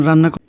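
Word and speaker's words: ر: পরের হরফটি হচ্ছে র র বাংলায় আমরা র যেভাবে বলি র থেকে কিছুটা একটু পরিবর্তন হবে র জিহ্বা উল্টিয়ে যাবে উচ্চারণটা হবে র র র তারপরে হরফটি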